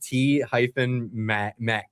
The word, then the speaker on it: T-MEC: It's T-Max. That's how it's said. Yeah, so it's this long. Yeah, that's funny. No, it literally is just T-Mec.